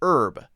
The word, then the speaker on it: herb: We also sometimes say words that start with H differently. So Americans might say herb, H-E-R-B. We often take out the H sound, herb.